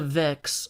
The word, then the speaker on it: Vex: Also, it's really hard for me not to say Vetches, because that's how I've been pronouncing that word for 25 years. Or 7. But anyway, yes. What does the Vex offer me?